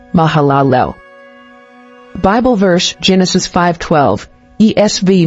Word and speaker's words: Mahalalel: mahalalel origin Hebrew Mahalia meaning Praise of God pronunciation mahalalel Bible verse Genesis 5:12 ESV Mahal Liv 6